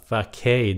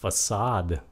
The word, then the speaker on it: facade: Mà chữ này là không phải là facade, đó là facade.